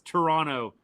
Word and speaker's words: Toronto: 32-32 Dallas tied with Toronto after the first quarter. Excuse me, Toronto. Don't pronounce the second T. For whatever reason, that was a huge thing on social media before the World Series. Toronto.